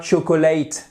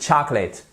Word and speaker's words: chocolate: Et c'est pas chocolate, non, non, non, c'est chocolate. Faites bien attention, vous voyez, vous avez une apostrophe ici qui indique que vous avez un stress, c'est-à-dire un accent tonique. Et c'est donc la première syllabe qu'il faut accentuer.